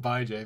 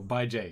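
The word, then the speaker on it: Bijay: I'm going to pronounce it Bye, Jay, because I'm not going to pronounce it the other way. Like Brazilian Jiu-Jitsu? B-I-J-A-Y. Ah. So, Bye, Jay.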